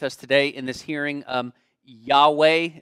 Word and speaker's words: Yahweh: Yahweh, are we pronouncing that correctly? Yahweh, great. Seems like you have a lot of aliases here, but we'll go with that one.